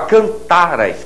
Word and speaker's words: cantaras: Agora, cantaras, cantaras. Com essa pronúncia em que o RA é átono, você cai aqui, não é verdade? Você cai aqui no pretérito mais que perfeito.